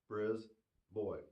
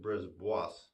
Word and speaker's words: Brisbois: Brisboy. It looks like you might pronounce it brisbois, but no, brisboy.